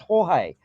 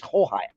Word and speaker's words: Jorge: It is pronounced Jorge. The G's are pronounced the H's in Spanish, I think. Yeah. So what is George is Jorge. Yeah, it's Jorge.